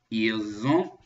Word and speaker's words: ils ont: You'll notice that usually when I just say il, I-L-S, you don't hear any kind of a sound at the end. But since avoir, O-N-T, starts with a vowel sound, we're going to make a Z sound in between so they connect together.